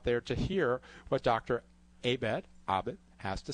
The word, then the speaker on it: Abed: Abed, sort of like tomato versus tomato. So Abed is how the kids would call us when we were growing up.